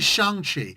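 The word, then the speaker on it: Shang-Chi: simple thing where hey, it's actually Shangi. I get it. I know how it's spelled, sir, but just, you know, it's it's it's Shan.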